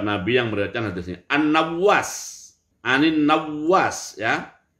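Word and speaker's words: النواس: An-Nawwas, Anin Nawwas ya. Nama sahabatnya An-Nawwas bi fath'in nun. Huruf nun berharokat fathah, wa tasdidil wawi, dan huruf wawunya bertasdid, Nawwas.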